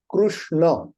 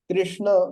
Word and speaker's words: Krishna: way you pronounce but it should be ending with a and not ah so both names are